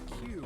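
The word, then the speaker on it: 九: base 10 but a q in base 27 God my thighs are killing me I swear any moment now I'm going to tear a muscle in Japanese nine is pronounced Q oh it is dude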